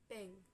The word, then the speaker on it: PNG: PNG portable network graphic or and oh yeah it is pronounced ping let's see it is